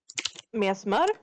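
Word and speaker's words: messmör: Please pronounce this for me. Mesmar?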